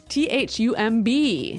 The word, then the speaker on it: thumb: of this word no I actually only pronounce the M the thumb the thumb